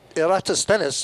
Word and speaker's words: Eratosthenes: Eratosthenes, and it's taken me a long time to